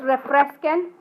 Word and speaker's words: refresquen: Now when we look at this word, it's got two syllables, one for this vowel pair and another here. All of our commands follow the rules. So it's refresquen. So our stress is where it's supposed to be here on the second to last syllable.